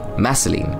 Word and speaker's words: Meline: to her afterwards mine meline rhymes with Vaseline meline very good spells I